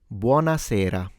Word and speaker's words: buonasera: The correct pronunciation is Buonasera. Buonasera.